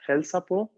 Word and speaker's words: hälsa på: Att hälsa på, bueno, tal vez no se escucha tanto como en el infinitivo, pero att hälsa på quiere decir saludar. Por ejemplo, aquí pronunciamos con el acento en po.